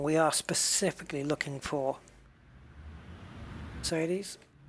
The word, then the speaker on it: Mercedes: We need to go to the rim shop, and we are specifically looking for Mercedes, or to pronounce it correctly, Mercedes.